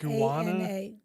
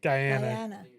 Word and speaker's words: Guyana: Am I saying it right? Wait, Ghana is in Africa. Guana. Is that South America? A na. Where is that? Guyana. Guy. That's the one in South America.